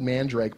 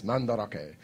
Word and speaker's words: Mandarake: We were in this story called, it's spelled Mandrake, but they call it in Japan, it's Mandarake.